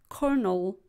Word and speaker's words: Colonel: the world for example see o ll ne L is pronounced Colonel we had as I